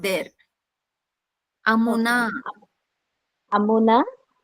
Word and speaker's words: अमुना: Amuna, Makara is Raswa, Nakara is Dirgha.